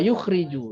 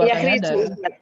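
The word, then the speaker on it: يُخْرِجُ: Wa yukhriju, ya. Wa yukhriju bihi minaz zulumati ilan nur. Dan keluar ilmu itu mengeluarkannya bukan yakhriju, keluar darinya. Itu kan yakhruju ya, yakhruju bihi. Ya, yukhriju ya.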